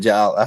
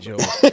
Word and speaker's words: Jolie: I said Jolly. Is it Justin? It's Justin Christmas Jolie. time, y'all. Justin, it's Justin Jolie. Everybody's saying Jolly, and I'm the only idiot that's a content creator that went to the Connecticut media thing to get the official pronunciation. No, I knew it was Jolie, but Christmas is in my head, I guess.